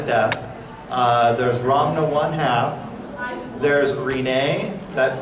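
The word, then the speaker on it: Rinne: There's Rin-ay, that's spelled R-I-N-N-E.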